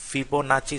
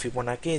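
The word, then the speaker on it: Fibonacci: ফিবোনাচি series ফিবোনাচি অথবা ফিবোনাকি যার যেভাবেই সুবিধা উচ্চারণ করে।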